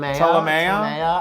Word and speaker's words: Ptolemaea: Ptolemaea, I would imagine. P is silent, I'm assuming.